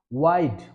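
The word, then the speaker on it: why'd: ওয়াইড। সঠিক উচ্চারণটা কি হবে?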